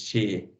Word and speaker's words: Xi: the opposite of like in Asia they pronounce the opposite the x e they use it that she like the name of the president is she even if with have an XI right oh yeah true then do then like when we pronounce the whole X they pronounce only the the sh of it yeah x x x